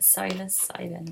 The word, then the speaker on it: psilocybin: Anyway, so yeah, I don't know why the hell I started talking about psilocybins, because is that how you say it? Psilocybin.